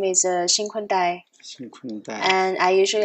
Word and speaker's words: XinKun Dai: So my full Chinese name is XinKun Dai, XinKun Dai.